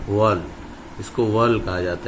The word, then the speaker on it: whorl: ये वाला बच्चों नीचे का आउटर साइड से जो घेरा होता है वॉल, इसको वॉल कहा जाता है। ये वॉल की स्पेलिंग है बच्चों, ये WHORL, वॉल मतलब होता है घेरा, एक चक्र।